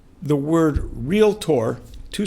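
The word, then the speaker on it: Realtor: so many real estate agents pronounce the word real tour two syllables as real a tour I don't know how many of us would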